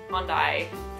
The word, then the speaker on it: Hyundai: first car was a red hyai hondai tomato tomato I don't know how you guys pronounce it but I say Hyundai um number six I